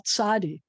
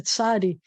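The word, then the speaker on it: צדי: There are other languages that have one character that makes the sound that in English requires two. Some people will spell it as TS, and some people will spell it as TZ. But either way, it's a tsa, and it's its own consonant.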